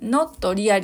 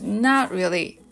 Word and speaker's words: not really: 目の not really これはななという感じですねノリアではなく not really というような感じでリズムよく発音することで自然に聞こえますまこ力まず